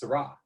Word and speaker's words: Syrah: in the family well you're not supposed to say it with the h it's syrah raw i know okay okay